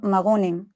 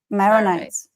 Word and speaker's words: Maronites: Like the more like they have not the Maronim. How do you say Maroons? Maronites.